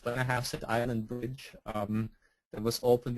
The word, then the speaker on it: Blennerhassett: And then if you're going east, there's the Blennerhassett, that's how it's pronounced, Blennerhassett Island Bridge that was opened in June of 2008.